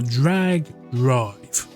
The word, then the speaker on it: Drag x Drive: So, uh, yeah, speaking of mouse mode, uh, Drag Drive or Drag X Drive, it's one of those ones where the X is silent or, you know, the weell basketball game.